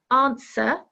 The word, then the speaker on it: answer: what do you think number 10 answer is a silent W well done if you